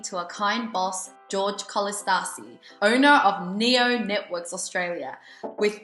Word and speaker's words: Kolistasi: Did I pronounce it right? Or is it a little bit wrong? Kolistasi. Kolistasi, okay.